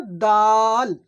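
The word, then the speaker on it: دال: বেশি বলে যাই হোক তো এটা ডাল হবে না। দাল দাল যেমনভাবেই তা উচ্চারণ হয় ঠিক তেমনইভাবে দাল উচ্চারণ হবে।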